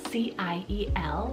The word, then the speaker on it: Ciel: So spelled C-I-E-L. It is a French name, and the French pronunciation is Ciel.